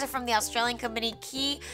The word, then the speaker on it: Quay: from the Australian company key it's spelled quu a y like Quay but I'm pretty sure it's pronounced like key I've mentioned this in